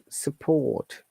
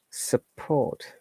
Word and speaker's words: support: So once again, support, no R sound, and there is schwa sound O. I'm sorry, U, the second letter, not O. And for the American pronunciation, this is support.